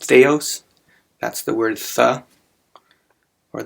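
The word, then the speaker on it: θεός: the it's actually pronounced theos that's the word the or the the first letter is the th sound and of course we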